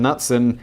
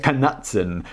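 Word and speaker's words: Knutson: employee and designer Morgan nutson kutson when someone got a name nutson do you pronounce the silent k kutson spilled the beans on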